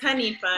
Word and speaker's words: Hanifa: It's Hanifa. Hanifa. You got it.